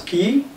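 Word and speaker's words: quay: Look at this spelling of the first key. Q-U-A-Y. That's key. The second one to K-E-Y. They have the same pronunciation, they have the same transcription, but have different meanings.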